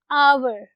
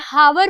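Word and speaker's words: hour: आवर की, ठीक है, although H इज a consonant लेकिन over here H is silent और फोनेटिकली ये जो वर्ड है ये प्रोनाउंस होगा ओ से, ओ का साउंड. इसीलिए हम इससे पहले एन लगाएंगे. Always an आवर. ठीक है, ये हावर प्रोनाउंस नहीं होता. We don't pronounce it हावर, इट्स आवर.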